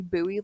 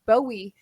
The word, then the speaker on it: Bowie: where jim bowie died actually you say buoy like buoy and bowie is a mispronunciation i'm gonna keep saying